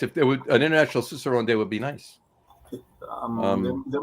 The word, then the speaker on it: Cicerone: Cicerone, thank you. I was just saying the C, but not pronounced hard. Cicerone, yeah.